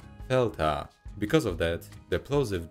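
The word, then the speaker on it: δέλτα: g like amma delta in the past pronounced with a plosive d today sounds more like delta because of that the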